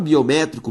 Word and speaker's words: biométrico: Biométrico tem como sílaba tônica a antepenúltima, por isso uma proparoxítona.